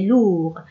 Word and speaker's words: lourd: C'est une lettre muette. Lourd s'écrit avec D à la fin.